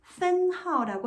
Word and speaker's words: 分号: 이 문장 부어는 分号라고 읽습니다.